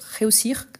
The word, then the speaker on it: réussir: russir ici c'est réussi c'est vrai que quand on prononce dans un contexte on n'entend pas trop le r mais il est là donc réussir je vais réussir mon